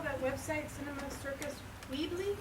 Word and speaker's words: Weebly: Can you spell that website, Cinema Circus Weebly? Weebly, not weekly, W-E-E-B-L-Y.